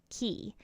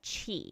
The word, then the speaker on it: Qi: within their bodies called key and you can also pronounce that Chi it's basically spelled Qi so just like food